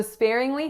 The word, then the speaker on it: sparingly: So sparingly has 3 syllables. So the first syllable is spare. Spare. So SP going into that complex R vowel air.